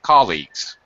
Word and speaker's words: colleagues: it all right and the other one was colleagues only two syllables colleagues first syllable St colleagues